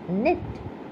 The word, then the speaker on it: knit: And the last one is knit. Silent letter is K.